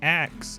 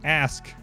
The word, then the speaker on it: ask: that grew up and pronounces ask as ax goes up to them and be like hey just so you know lady in the line at McDonald's it's not ax it's ask no of course not